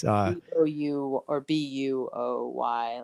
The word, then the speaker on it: Bowie: area they'll say in bowie virginia or bowie virginia it's like no no it's buoy buoy you know it's just